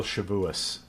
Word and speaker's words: Shavuos: I learned a phrase a few years ago, until Shavuos, or which is the Ashkenazic way of pronouncing the holiday of Shavuot, is code for some indeterminate time in the future.